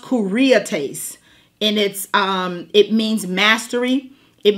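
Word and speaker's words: κυριότης: Now, and when you get over to the New Testament, there's another word for government, and it's pronounced kuriates, and it means mastery.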